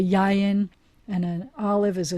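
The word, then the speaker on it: יין: if i wanted to say wine i say yayan and an olive is a zayat and they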